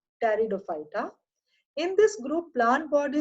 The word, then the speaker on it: Pteridophyta: P is silent, Pteridophyta.